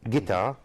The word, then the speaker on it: guitar: ghost h is mute guitar u is mute me k is mute